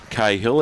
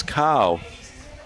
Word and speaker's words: Cahill: So we've got Nick Cahill's dad here, and he's saying it's not Cahill, it's Carl. So there you go, Nick Carl.